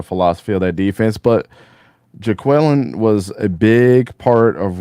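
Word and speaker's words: Jacquelin: Jaquelin, yeah. Jaquelin, like Key and Peele.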